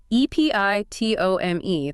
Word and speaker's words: epitome: And the stress is on the pit.